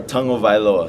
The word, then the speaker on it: Tagovailoa: name for us uh tongue o vioa so you say tongue first o VI low tell by low what's the funniest um